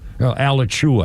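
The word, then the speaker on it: Alachua: Oh, this is the chairwoman of the Florida County School Board in Elatchua County, Alichua, I think it's pronounced.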